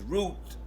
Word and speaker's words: Route: pronounce my last name which is root spelled like rout so every time somebody